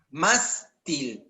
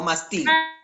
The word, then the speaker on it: mástil: Mástil, no mastil. Mástil. Entonces lleva tilde en la A.